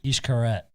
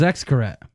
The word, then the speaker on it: Xcaret: mexico and uh wait how do you pronounce that ishkaret i thought it was xcaret no huh wouldn't ever pronounce that way again proving that i know